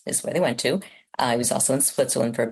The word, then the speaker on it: Hugh: How do you even pronounce Hugh in French? Huh? Well, it's Hew.